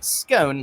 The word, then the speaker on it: scone: the Republic of Ireland you'll also hear scone like tone and then some butter